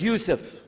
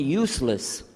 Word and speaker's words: Yusuf: Asuma but some are gone my name is Yusuf he say Yusuf Mesa you're very good I wish you teach my wife she keeps mispronouncing it she calls me useless ha ha hum de left now how many